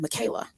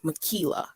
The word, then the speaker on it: Michaela: propose to Rebecca and Michaela and also another small fact Anthony my name is Michaela which rhymes with tequila but I usually get called Michaela because of the way it looks so thank you guys